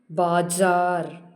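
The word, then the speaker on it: बाज़ार: இப்போ புள்ளி வைக்கும்போது எப்படி உச்சரிக்கணும்? ஜா. இது எப்படி உச்சரிக்கணும்? ஜா. பாஜார். பாஜார்.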